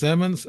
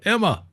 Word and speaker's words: Emmons: said it's right he said you say it's emons I said I'm I'm gonna call it Emma how's that buddy that's that's how the military